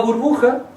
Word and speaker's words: burbuja: Sale J, pero lo pronuncian con el con una H. Burbuja.